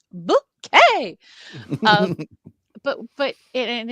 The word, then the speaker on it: Bucket: know so it was a big bucket yes bucket b u c k t it's pronounced bouet um but but and it's a thing you